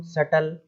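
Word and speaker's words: subtle: है, केवल पढ़ेंगे हम सटल, मतलब जो भी चतुर इंसान वगैरह है। तो अब इसमें भी देखिएगा, टी के पहले क्या आ रहा है, बी आ रहा है, तो वो बी साइलेंट हो गया, सब टल, इस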